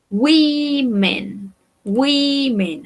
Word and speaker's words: women: Si yo quiero decir mujeres, digo women, women. Acá la O se va a pronunciar como una I.